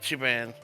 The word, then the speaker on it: Ichiban: Ichiban.